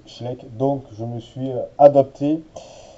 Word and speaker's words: Schleich: alors aujourd'hui nous allons regarder le cosur de Schlek alors au début je prononc schle mais en fait c'est comme c'est une marque allemande j'ai entendu des Allemands prononcés Schlek donc je me suis adapté et je le